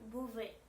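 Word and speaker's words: Бове: le mot, par exemple, beauvais. Beauvais, beauvais, en russe c'est beauvais. Vous voyez, O se prononce plutôt comme A, beauvais.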